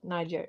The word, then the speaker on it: Niger: And also the Wagner group, they are helping Niger, how do you say that? Niger, yeah, to get rid of the French and the Americans And the Swedes.